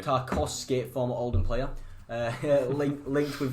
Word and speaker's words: Tarkowski: You say it wrong. It's Tarkowski. Tarkowski, former Oldham player.